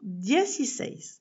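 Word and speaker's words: dieciséis: Et il ne faut pas oublier de mettre un accent écrit sur le dernier e sinon l'accent tonique ne se placera pas bien.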